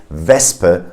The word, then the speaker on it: Wespe: In words like Wespe, you see the SP, but the S is in the first syllable and the P is in the second syllable. So you have a S sound, not a sh sound. You say Wespe.